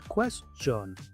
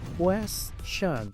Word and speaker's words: question: Muchos pronuncian esta palabra question, pero aquí la t se pronuncia como sh, la i se pronuncia i, la o se pronuncia a question.